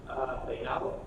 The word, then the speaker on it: Peinado: Pretty close, closer than me. Peinado. Pinedo. Hey, like hey, and Gotcha.